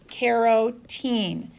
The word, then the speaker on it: carotene: carotene so that is carrot in karo teen it's different it's spelled different than keratin so keratinocytes